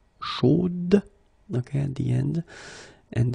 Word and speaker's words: chaude: the end, and then the pronunciation will change a little bit, chaude. So here you pronounce the final d, whereas in the masculine form you don't pronounce it.